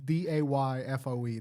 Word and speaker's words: Dafoe: Dafoe, like Dayfoe. That's how you pronounce it.